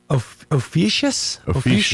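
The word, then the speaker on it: Ophiuchus: it because it sounds it looks like it says oh blank us. All right. Well, okay. Cuz look, it's it's spelled o p h i u c of then h u s. Ofious.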